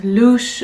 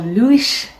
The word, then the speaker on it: Luis: Now the second tree is the Rowan, or Louis, which is apparently pronounced Louche or Louish, so I'm not 100% sure because I haven't heard it pronounced really, just yeah, I've read it.